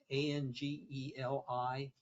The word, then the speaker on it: Angeli: Spell it. Chin, C-H-I-N. It's A-N-G-E-L-I, Angeli, C-H-I-N, Chin.